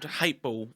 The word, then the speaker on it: H8teball: So Dan, you're in a band called H8teball. So it's spelt Hateball, however the A is replaced with an 8.